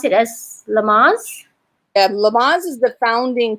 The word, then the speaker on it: Lamaze: believe we have uh do you do you pronounce it as lamas yeah lamaze is the founding father of childbirth